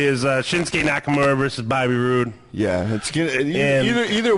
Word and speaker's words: Roode: or Smackdown well one you gotta say his name right it's Bobby Roode Bobby Roode yeah Bobby Bobby